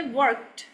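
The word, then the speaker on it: worked: ठीक है, तो क्या है, यू are going to pronounce this D एज टी.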